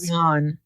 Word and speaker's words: Kayvon: At first, when I saw, because is it or Kayvon? Isn't it spelled? It's spelled Kayvon. It's spelled Kayvon, but his name's. But they also call him Kayvon. Sometimes they call him Kayvon. Sometimes they call him. I think it's Kayvon. Okay, so Kayvon.